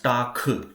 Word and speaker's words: Tag: So make sure that Tag itself is pronounced as Tak.